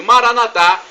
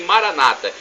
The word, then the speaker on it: Maranatha: o seu bem e Maranatha expressão do aramaico e nós pronunciamos com a tônica na última sílaba e os evangélicos ou protestantes nossos irmãos separados dizem Maranata com a tônica na penúltima sílaba não importa a pronúncia porque o significado é o mesmo vinde Senhor Jesus vem